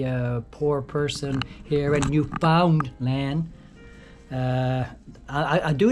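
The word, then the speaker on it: Newfoundland: hard to say guys it doesn't roll off roll off the tongue as easily as New Finland uh but uh once you force yourself to kind of readjust and and and uh pronounce the the name of the place correctly uh new found land you know eventually it starts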